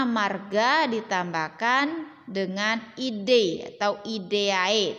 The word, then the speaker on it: idae: Pada hewan, nama suku berasal dari nama marga ditambahkan dengan ide atau ideae tulisannya. Bacanya ide.